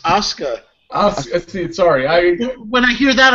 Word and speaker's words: Asuka: Apparently, it's pronounced Asuka.